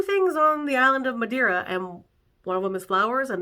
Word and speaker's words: Madeira: to pronounce it I finally learned how to pronounce it Madeira Portugal is having their Madeira Wine Festival this